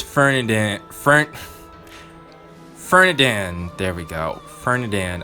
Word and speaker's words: Ferdinand: And right, it's Fernandad. Fernandad. There we go. Fernandad. I've been saying his name wrong this entire time.